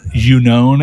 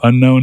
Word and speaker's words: Unown: it has entei and the unown as they're apparently actually called uh instead of unknown as everyone wants to call them i don't like i'm